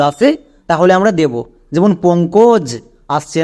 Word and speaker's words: পঙ্কজ: এখানে আমাদের পো এর পরে ও সাউন্ড। উক এর পরে ও সাউন্ড এসছে।